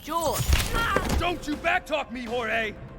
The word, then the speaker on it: Jorge: way up is last one up gets it jorge my name's pronounced jaw don't you backtalk me jorge what's happening i